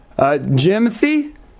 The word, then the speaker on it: Jimothy: Jimothy? Say it again? Jimothy? Jimothy? Yeah. Spell it for me. What? Spell it for me. Okay, J-I-M-O-T-H-Y. It's like Timothy, but with the J.